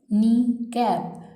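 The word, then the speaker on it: kneecap: नी कैप। के इसमें silent हो जाएगा, लिखते हुए हम इसको लिखेंगे लेकिन पढ़ते हुए नहीं पढ़ेंगे।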